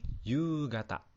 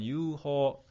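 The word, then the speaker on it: 夕方: Yang ini kata. Misalkan sky kata, kaki kata, yomi kata. Tapi di sini dibacanya gata, agak sedikit berubah. Biasa kan bahasa Jepang suka kayak gitu ya teman-teman. Berubah-berubah. Oke, bisa ya teman-teman. Jadi bukan yuho.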